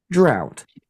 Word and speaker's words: drought: drought, drought, Drought. Sorry, it's not the rafts. It's the drought. Ow, ow. This wrong Ow. pronunciation. Okay. Drought. It's a O.